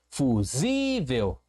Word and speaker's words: fusível: Sim, fusível. Paroxítona, por ser a penúltima sílaba tônica, e acentuada por ser terminada em L.